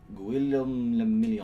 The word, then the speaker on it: Guillaume Lamillion: Guillaume Lamillion. If it doesn't rhyme, you're not pronouncing it right.